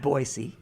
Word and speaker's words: Boise: So, I was in Boisey. Yes. Which is how you say it. I know. It's not I'm always proud of myself when I say Boisey. It's Boyisey.